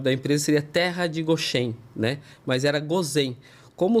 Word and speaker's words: Goshen: É Goshen, é Goshen, né? Uma entonação ali no Shen.